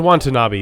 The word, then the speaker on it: Watanabe: And then Ken Wanta being rude to other ants. Wanta not being rude. Sorry, I messed that up. He just... Who is that? I missed a syllable in his name. Ken Watanabe is the guy who